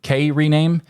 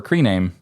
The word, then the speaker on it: KRename: prefer creame in fact if you look at the way it's spelled it's K capital K capital r with rename and it's maybe K rename but I prefer creame because that just sounds better so the first thing